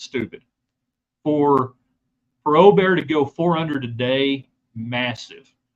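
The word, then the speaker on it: Åberg: No, you do not say the G. It's Aubert. Just Aubert.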